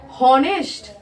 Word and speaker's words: honest: उसको क्या पढ़ेंगे, हॉनेस्ट, हॉनेस्ट पढ़ेंगे।